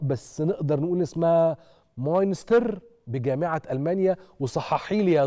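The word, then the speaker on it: Münster: هو حضرتك نطقته مظبوط، هو مونستر آه، بس أنا حاليا في جامعة كولون.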